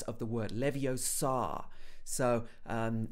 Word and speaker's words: Leviosa: someone's eye out besides you're saying it wrong it's leviosa not leviosa okay so these are